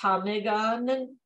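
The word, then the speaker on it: ptarmigan: patagavagan a local chicken-like bird whose name is pronounced tomigon command so they decided to call it chicken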